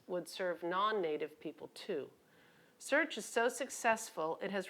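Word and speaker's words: SEARHC: it's a big word the consortium is called search SC AR HC and pronounced search our clinic in Haines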